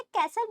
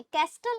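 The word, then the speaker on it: castle: इसे कैसल बोलेंगे, कैस्टल नहीं, टी साइलेंट रहेगा।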